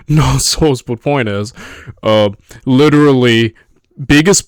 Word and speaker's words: Knossos: I'm not sure if the K is silent, so I say Knossos, but point is, literally,